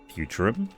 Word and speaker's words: Futurum: Futurum? And that's the name of this planet. That's how it sounded pronounced in the local tongue, anyway.